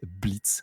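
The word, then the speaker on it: Blitzø: de Hell of Us qui s'appelle Blitz. The O is silent, comme ils disent bien en version originale. Donc Blitzo est un personnage, donc c'était un diablotin qui a fondé Imp.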